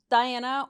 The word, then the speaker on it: Daena: So, it's Diana or you could just call me Diana just because the way it's spelled and the way you pronounce it.